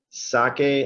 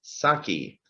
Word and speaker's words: sake: all said it correctly it's pronounced sake not saki it's critical we teach